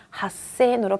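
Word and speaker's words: 八千: 8은 핫한 숫자니까 핫센으로 바뀌어요.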